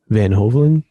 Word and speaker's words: Van Hoveln: episode 14 and this week we have van hoven right is that as i pronounce it yep that was pretty good actually